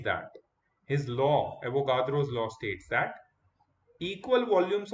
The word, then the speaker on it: Avogadro: Amadeo Avogadro. Please learn to say his name properly. It is not Avogadro. It is Avogadro. He was an Italian.